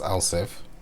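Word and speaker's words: elif: next statement which is an lsf statement that's pronounce El if and we say x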